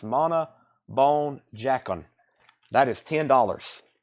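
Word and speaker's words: Mona Bone Jakon: I call it the trash can album that looks like it's crying or something, but I believe it's pronounced Mana Bone Jacon.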